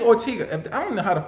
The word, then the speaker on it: Ortega: If Ashley Ortega, that's how you pronounce her last name.